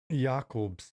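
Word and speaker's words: Jakob: at tatar's new armor yakob ounc Jacobs no I if you really want to get technical in German Unchained no I believe it is pronounced yakob yakob yakob yak yak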